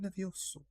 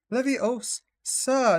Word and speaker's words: Leviosa: Leviosa, not Levioso. I'm probably saying it wrong.